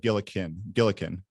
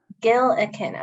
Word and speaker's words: Gillikin: Gilligan's Island. It's like that, but Gillikin. Gillikin.